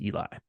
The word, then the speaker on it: Eli: no big deal but my first name is pronounced Eli oh Eli great okay um so question one